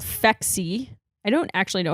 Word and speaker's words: Phexxi: start having sex, and it is it's called Phexi. I don't actually know how you're pronouncing Phexi, but it's PHEXI.